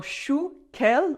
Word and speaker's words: chou kale: It is called in French un chou kale, like chou, cabbage, and then kale, kind of pronounced with a French accent, un chou kale, but